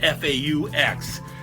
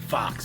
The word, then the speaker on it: faux: Faux, that's a French word, spelled F-A-U-X. You know, people sometimes pronounce it fox, but it's really faux, because the French don't know how to spell anything.